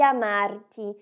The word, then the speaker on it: amarti: E mi accorgo di amarti. E mi dou conta de te amar. E olha só a pronúncia do ti. Ela também tem um som mais duro.